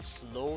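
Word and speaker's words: Slough: but in the UK in slow station, it's spelled S L O U G H actually. And believe it or not, the trains actually go through there really fast at 200 km/h. But it's called slow.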